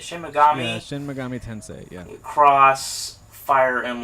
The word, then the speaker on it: Shin Megami Tensei: to be a shin is it shin megami is how they say it shin megami shin megami tensei young you cross fire